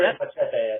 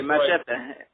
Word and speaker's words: Machete: I think you should say Machete. I think you're right. You can use the correct pronunciation. Go ahead. You can use the Latin pronunciation. Okay, Machete.